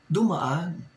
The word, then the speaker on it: Dumaan: On a Night News Channel, Dumaan. Night News Channel, Dumaan. It should have been Dumaan.